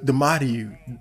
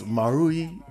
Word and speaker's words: Marui: I still barely know how to pronounce it. But it's you know, a series of mini stories pertaining to the lives of the Marui sisters. The Marui. No, it's Marui.